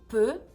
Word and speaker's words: peut: Donc il y a une différence dans la prononciation e. il peut au singulier, ils peuvent au pluriel.